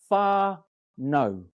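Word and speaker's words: whānau: if so the word far no is actually pronounced far no different ewi tribes have different variations and we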